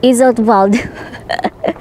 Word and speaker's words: Iseltwald: it here in isal so the W you have to pronounce it letter V so instead of saying Isel iswald it's iswald I have been struggling